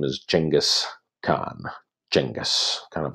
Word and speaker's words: Genghis Khan: of the more famous characters in world history Genghis Khan a lot of people go home Genghis Khan